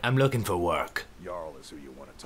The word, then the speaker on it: Jarl: Jarl is who you want to talk to. No. Always coined to be made. I don't talk to anybody whose J is pronounced like a Y.